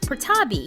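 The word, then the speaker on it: Prettyboy: truly right and then his last name is spelled pretty boy but it's actually pronounced prabi so Raymond prabi literally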